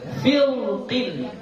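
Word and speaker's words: فرق: Jadi kalau dibaca tafkhim, maka kita bacanya fil, ya. Firqin. Coba. Ya, fil, ya, kita baca angkat pangkal lidah kita, ya. Filqin. Coba. Kalau bacanya tipis, fir, ya, filqin.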